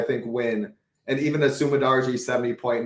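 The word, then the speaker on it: Su Mudaerji: I say Sumadarji.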